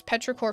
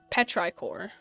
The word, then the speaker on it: Petrichor: the planet's name is petrichor 5 but i don't want to pronounce it like petri core so i'm going to pronounce it like petrichor like i have been